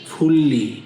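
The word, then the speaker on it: 분리: আবর্জনার নিষ্পত্তি আমরা জানি যদি নিউনের পরে যদি রিউল থাকে তখন নিউনের উচ্চারণ ল এর মত হয় তাহলে এটা হবে ফুললি ফেস মানে নিষ্পত্তি করা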